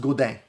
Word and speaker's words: Godin: based on the comments, I said Godin the right way. It's pronounced Godin. Yeah, a lot of people, it's a French thing, right? I didn't see it.